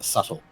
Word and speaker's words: subtle: someone earlier today over how you pronounce subtle. They were like, "There's a B in there."